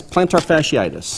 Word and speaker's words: plantar fasciitis: It's plantar fasciitis.